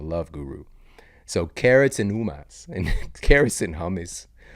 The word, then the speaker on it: hummus: you know simple veggies and UMAS shout out to The Love Guru all right that's how I learned how to pronounce hummus correctly um all right shout